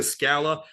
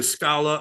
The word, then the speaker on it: Scala: Because people, like I said, people say Scala, people say Scala, and I kind of let them say whichever way they want to say it. I say Scala because it's closer to the Italian pronunciation.